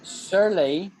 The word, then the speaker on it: surly: So Shirley is a girl's name, and Surly, Surly, no sh, just surly means you're in a bad mood.